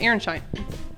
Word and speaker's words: Aronszajn: blackboard what we called Aronzan um wrote on this blackboard. It was like preserved blackboard. So I've written on the on the blackboard that Aaronshine and it's actually pronounced Aaronshine.